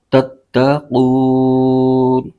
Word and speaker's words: تتقون: کی علامت ہے، تو یہاں پر وقف کریں گے تو اس صورت میں نون کی زبر ختم ہو جائے گی اور نون ساکن ہو جائے گا۔ اس کے ہجے یوں کریں گے، ت ت زبر تت، ت زبر ت، تت، قاف واو پیش قو، تتقو، نون زبر ن، تتقون، آگے وقف، تتقون۔ تو یہاں پر جب